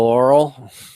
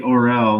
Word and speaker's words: Orel: moral oral. Yeah, I think it'd be Orel, not Oral.